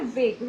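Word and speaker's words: vague: বাকিগুলো দেখো ভেগ, ভেগ মানে কিন্তু অস্পষ্ট, উচ্চারণ কি এটার? ভেগ।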